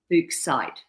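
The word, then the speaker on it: Fuchsite: It's f u c which is fuk in German. Fuk fukite. Fuksite. Si t e.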